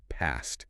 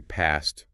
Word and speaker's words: past: The source lists past under the long A, past. Which feels very British to me. It is. This text uses received pronunciation, or standard British English, as its baseline. If you're American, you might say past rhyming with man.